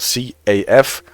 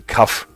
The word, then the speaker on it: CAF: And Lofty says, I think I've always seen CAF pronounced with one syllable, CAF.